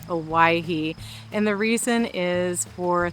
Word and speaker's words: Owyhee: I have always called it Aahi, but it is Aahi.